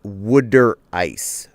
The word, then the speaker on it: water ice: No, it's wood ice. Wood ice. Must pronounce it as a jersey.